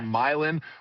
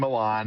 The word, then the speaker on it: Milan: We got milin rather than milan and we got selene rather than saline.